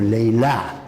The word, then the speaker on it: Layla: In this particular story, she is the lady Layli, or Layla in Arabic pronunciation, the lady with night dark hair.